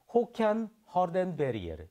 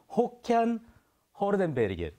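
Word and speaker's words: Håkan Hardenberger: 스웨덴어 발음 자체가 좀 어렵긴 합니다만 원어로는 호켄 허덴베리에르 이렇게 발음하는 선생님 다시 한번 들어도 될까요? 호켄 허덴베리에르 이렇게 와. 발음을 한다고 합니다.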